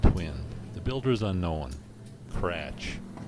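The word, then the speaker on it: Kratzsch: Kratch, spelled Krattzsch. I had to spell it for you just to let you know what I'm up against.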